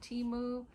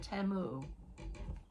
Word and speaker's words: Temu: Tell me what you think about timu. If you are, you know, I've heard it pronounced both ways. Timu or teu. So, I'm going to pronounce it timu.